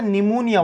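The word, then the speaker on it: pneumonia: इसने बैक्टीरिया ले रखा था निमोनिया वाला, जिसका नाम होता है स्ट्रेप्टोकोकस। सुना है आपने ये नाम, निमोनियाई। निमोनिया की स्पेलिंग पी से स्टार्ट होती, क्यों होती है हमें भी नहीं पता लगा आज तक।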